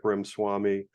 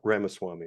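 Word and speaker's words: Ramaswamy: with the exception of Vivek Rim Swami uh Rama Swami excuse me I mispronounced his last name he runs strive Financial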